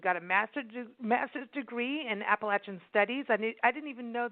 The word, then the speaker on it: Appalachia: think about Appalachia, and I'm saying it right because I've heard that, you know, it's about the apple being thrown at you. It's like Appalachia, you know.